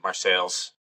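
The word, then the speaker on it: Marseilles: people are always friendly I was just in Marcel's uh that's how they say it there I'm pretty sure even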